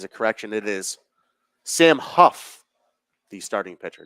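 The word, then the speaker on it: Hough: As a correction, it is Sam Huff, the starting pitcher, not Ho. Spelled H-O-U-G-H. It is pronounced Huff, I am being told.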